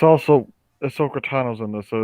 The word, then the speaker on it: Ahsoka: do you keep saying asana you keep it's ahsoka i don't i never said asuna i said